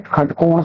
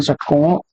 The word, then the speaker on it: षट्कोण: जैसे खटकोण पढ़ते हैं षट्कोण को और इस श को श का उच्चारण जो लोग कर देते हैं।